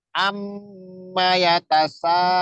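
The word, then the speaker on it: عَمَّ يَتَسَاءَلُونَ: Jadi nggak boleh amma nggak boleh cepet-cepet. Amma yatasaalun. Coba lagi. Amma yatasaalun. Ya, begitu caranya sama. Jadi mim dengan nun itu kalau ada tasdid cara bacanya seperti itu. Ditekan dan ditahan 2 harokat.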